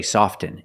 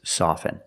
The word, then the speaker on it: soften: often I prefer often now the word soften you can never say soften it's always soften and it means to